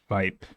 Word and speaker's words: Weib: The effect here is the same as when you have any consonant in Korean in the last position of a syllable. And it simply becomes more abrupt and more explosive.